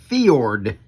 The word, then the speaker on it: Fjord: And Dan Selvig came back in the comment section and informed me that this is a Scandinavian name, and it is pronounced FJORD.